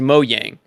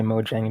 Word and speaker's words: Mojang: how to pronounce because I thought it was Mo Yang I think you're right I think I mispronounced it just now Yang Yang okay yeah gotcha I just always say Mojang because it has a j but you're right it